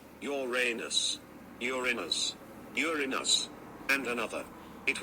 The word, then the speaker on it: Uranus: Uranus is the only planet to be named after a Greek god. It is a problem with the pronunciation. And let me say that. Uranus. Uranus.